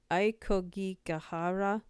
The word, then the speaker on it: Aokigahara: Ok Aokigahara, Japan.